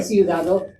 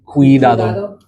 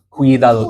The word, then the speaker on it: cuidado: And there's that hard C sound, just like how we would have, think like cumin, like the seasoning cumin, cuidado. So that C carries the same pronunciation there.